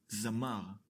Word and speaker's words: זַמָּר: Another example is the word Zamar. The first letter Zain is decorated with Patach. We pronounce it Za-mar.